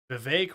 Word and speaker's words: Vivek: that Biden but Biden Vivek rhymes with cake um okay so that's